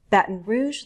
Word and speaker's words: Baton Rouge: Arkansas Little Rock Arkansas Baton Rouge Louisiana the Pelican state notice how I use a glottal stop that like Trenton New